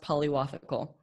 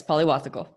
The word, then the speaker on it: Pillavathukal: your last name so my last name is pronounced Polly waffle Polymathic oh yes yeah my dad is originally from India okay okay so yeah right Polly waffle yes pali wasa chol wow that's awesome okay